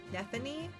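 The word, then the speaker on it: Nephenee: Nephany.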